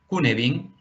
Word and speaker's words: Cynefin: para entender esto que se llama Cunefin, aunque se escribe Cynefin, que es un marco